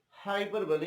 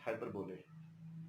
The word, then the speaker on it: hyperbole: Sometimes this one, hyperbole, is wrongly pronounced, and people pronounce it hyperbole. This is exactly wrong, and the correct pronunciation of the word is hyperbole, and this one is apostrophe, and this one is onomatopoeia.